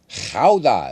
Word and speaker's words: Gouda: Gouda is how you say the cheese, and that's also the name of the city.